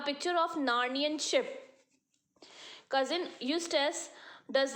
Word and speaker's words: Eustace: What is the pronunciation? Eustace.